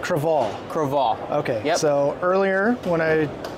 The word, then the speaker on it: Crevalle: from Full Ardo Boat Show okay so it's pronounced creal Cal okay so earlier when I butchered the name